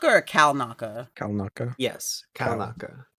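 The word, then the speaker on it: Kelnacca: Yeah, I thought they did a good job with is it Kelnaka or Kalnaka? Kalnaka. Yes, Kalnaka. It's spelled like Kel, but I think it's Cal.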